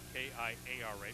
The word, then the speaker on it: Kiara: almost impossible to defensive shot like that from kiara pierre by the way kiara spells her first name capital k-i-a-r-a pronouncing kiara it's spelled the same way for kyra